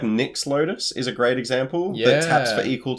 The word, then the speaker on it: Nyx: well it's Nick's Lotus it's spelled NYX as in like the Nicks from Theos yeah yeah it's the Lotus that Nick made no no no not n i c k Nick NYX I can't get this we're